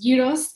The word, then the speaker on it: gyros: yos for you um some people may know them as gyos or Gyros but my Greek best friend always tells me they pronounced gyos so I'm going to